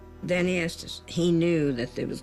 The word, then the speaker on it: Estes: D A N N Y R period E S T E S. How do you pronounce it?